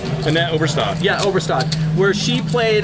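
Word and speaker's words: Annette Obrestad: But, you know, you read some books, you read stories about, for example, like, I want to say her name right, Annette Overstead? Annette Oberstad.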